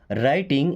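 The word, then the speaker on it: writing: राइटिंग यहां पे W silent है ना?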